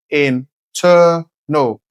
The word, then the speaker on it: internal: No, the word is not internal. Place the stress on the second syllable, internal. That's where it's longer, louder, and clearer.